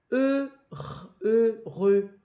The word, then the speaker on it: heureux: Le H ne se prononce pas. Heureux, z, m, en, man.